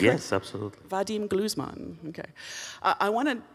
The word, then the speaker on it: Gluzman: guy is the internationally renowned violinist of edema glues mom so far so good and did I say your name correctly do i pronouncing yes absolutely Vadim glues monton ok I wanted it's as far as I